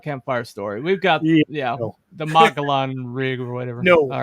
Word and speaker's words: Mogollon: Okay, Mogollon is pronounced Mogollon.